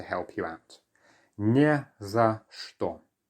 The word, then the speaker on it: что: Whenever you see the letter ch followed by some sort of consonant, often, but not always, it actually sounds like a sh, okay? So it's что.